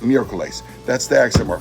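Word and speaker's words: miércoles: on the first syllable the three-syllable word for Wednesday meerkles instead of mercolis all right so if the accent mark wasn't there you'd pronounce it mere Colace it accent marks there you pronounce it Miracles that's the acts of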